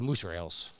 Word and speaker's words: mozzarella: The last time I did something like that, I got mocked for mozzarella for years saying that I said musherels. Yeah, that's how you say it, man.